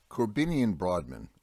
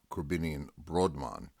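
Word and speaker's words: Korbinian Brodmann: the name of broadman corbinian brodmann or more appropriate pronounced krabinian brodmann was a german neurologist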